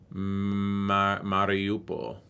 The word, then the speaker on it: Mariupol: It says Russia should, in this scenario, Russia would seize Mariupol, a major Ukrainian port on the Sea of Azov. Where's that? Right here. How do you pronounce that? Mariupol.